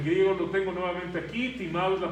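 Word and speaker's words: τιμάω: El griego lo tengo nuevamente aquí, timao es la pronunciación, honrar, y este es el significado, hermanos: poner un gran valor o un alto precio a algo.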